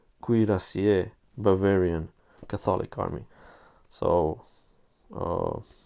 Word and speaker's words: cuirassier: this is uh one group of uh poppenheim curry ku ku oh that's that's an uh awful uh pronunciation cuirassier bavarian catholic army so uh cut these out